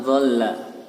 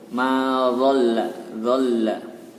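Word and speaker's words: ضَلَّ: Ma dhalla, dan situ ada huruf la bertasdid. maka dibaca double. Ma dhalla.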